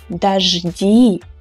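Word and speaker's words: дожди: changed to e here again you can see the unstressed o so we pronounce this word as da ji it may sound weird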